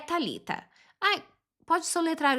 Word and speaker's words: Thalita: É Thalita.